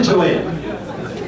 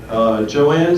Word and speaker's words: Joanne: You realize that Joanne spells her name J-O-A-N. Now that could be pronounced Joan. That's a one-syllable word. However, Joanne prefers two syllables. So that's why we get Joanne, two-syllable.